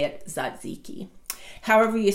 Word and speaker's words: tzatziki: to say it so the T is silent it's it's kind of an unusual spelling it's a Greek word TZ a TZ i ki i I ki but you say it Zod's iki however you say it